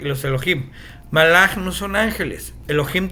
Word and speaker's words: Elohim: Elohim o Elohea, como también se pronuncia, Elohea es autoridad.